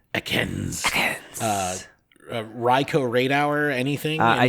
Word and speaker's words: Ekans: What about Ekans Spotlight Hour? You said it wrong. You haven't... It's Ekans.